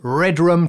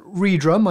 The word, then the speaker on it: Redrum: We will need, of course, some drums, so let's use redrum today. Not redrum, I'm led to believe it's pronounced redrum.